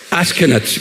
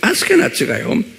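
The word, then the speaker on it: Ashkenaz: 그 성경에 보면 우리나라 말로는 어떻게 되는지 모르지만 첫 번째 아들이 아스케나츠 그래요. 영어로도 똑같이 ASH 케나츠, ASH 아쉬, 그 다음에 KENAZ 그랬어요. 그래서 한번 발음해 보세요. 이 중요한 이름이에요. 아스케나츠 그래요.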